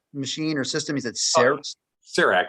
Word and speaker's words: CEREC: of that that machine or system is it cerec it's spelled c-e-r-e-c it's an acronym that stands for